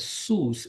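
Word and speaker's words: סוס: horses and also the Hebrew word is called sus s o oos that's how it is pronounced it also includes Chariot so you're talking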